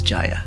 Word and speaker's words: Jaya: So she pronounces it Jaya. The Sanskrit and North Indian pronunciation is Jaya.